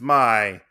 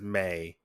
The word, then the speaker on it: Mai: I think it's Mai because M-I-I. It's Mai, but in the dub they pronounce it as May.